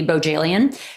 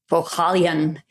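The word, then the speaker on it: Bohjalian: The Americanized pronunciation would be Bojalian, who wrote The Flight Attendant. But I think he says Bojalian.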